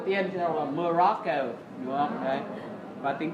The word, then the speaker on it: Morocco: Chúng ta xoam đầu tiên chúng ta đọc là Morocco, đúng không?